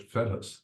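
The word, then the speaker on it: Fettes: We certainly I went to operas when I was at FETS, the way it's pronounced.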